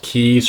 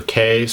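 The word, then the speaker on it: cays: from these small islands called keys or case spelled c-a-y and these are just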